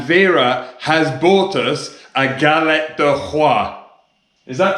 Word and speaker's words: galette des rois: So we've come back to Vera and Steve's house, and Vera has bought us a galette de roi. Is that pronounced correctly?